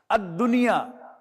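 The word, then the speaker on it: الدنيا: Dal. Ad-dunya. Ad-dunya. Lam is not being pronounced.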